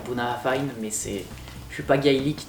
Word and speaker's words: Bunnahabhain: Alors je dis Bunnabein, il faudrait dire Bunnahabhain, mais je suis pas